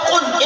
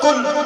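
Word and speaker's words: قُل: اب جب قاف لفظ ہے قل اس کا معنی ہے فرماؤ، اور جو بریک لکیر والا قاف ہے اس کا تلفظ کل، اس کا معنی ہوتا ہے کھاؤ.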